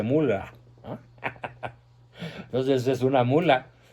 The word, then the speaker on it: Müller: O peor aún, a su esposa, a la tal Beatriz Gutiérrez Mula, como le llamo yo, porque, bueno, bien pronunciado el Müller se dice mula, ¿no?